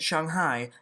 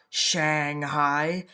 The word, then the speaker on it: Shanghai: and yes that is how you say it Shanghai not Shanghai anyways protests are using blank pieces of paper